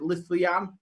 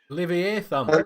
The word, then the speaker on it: Leviathan: I can't pronounce it. Was it Lithian? Leviathan.